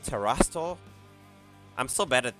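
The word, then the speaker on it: Terastal: Ra Terastol. I'll just call it Mickey. Yo, I like that. Emphasis on the Ra. Terra. Terastol. Did I say that right? Terastol.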